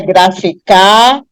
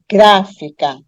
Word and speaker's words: gráfica: mais suave né gráfica então a palavra não é graficar nem grafica Mas ela é gráfica tá então quando você